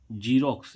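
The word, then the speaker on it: Xerox: एक्स का उच्चारण ज होता है।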